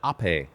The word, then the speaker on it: Ape: Uh it's pronounced ape.